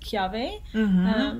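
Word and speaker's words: kiawe: as well um it's kiave smoked barbecue w is actually pronounced v in hawaiian so it's k-i-a-w-e but it's pronounced chiave which is a varietal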